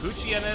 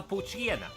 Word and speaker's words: Poochyena: It's a Poochyena. Poochyena. What if that was how you're supposed to pronounce it the entire time, as Poochyena? Because you don't pronounce it hyena.